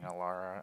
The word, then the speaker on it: Alara: and play Child of Alara as your commander. Oh, bullshit. And Alara rhymes with Emmara, so like That is true.